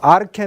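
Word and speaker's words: ἀρχή: 탁 잘나는 자리를 가리키고 아르케 는 아치 아치 짚지 우면 아치를 가치란 말이요 높다는 뜻이에요 그 영어로 나 치고 헬라어는 취 라고 발음하지 않고 캐 라고 하니까 아르떼 라고 하니까 이렇게 근원 높이 이런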